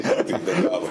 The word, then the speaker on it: Delgado: Estoy muy contento de decirles que mi invitado Delgado, I pronounced it okay? Sí, Delgado.